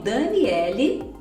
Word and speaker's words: Daniele: porque eu entendi que o nome Daniele em inglês é pronunciado Daniel Daniel eu só falar mas o nome Daniel aí a gente fala Daniel então gente isso é para ilustrar que o e final não é pronunciado mesmo e acho que até